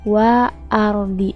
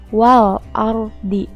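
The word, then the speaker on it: وَالْأَرْضِ: l yaitu dibaca jelas Jadi dibacanya waal-ardhi itu ya l-nya harus dibaca bukan dibacanya wa Ardi tapi waal-ardhi jadi l-nya itu harus dibaca contoh yang kedua ada Wal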